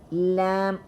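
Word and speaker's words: ل: When you pronounce lam, you will feel like your tongue, the edges of your tongue are touching up your upper jaws, and the tip of your tongue is also moving.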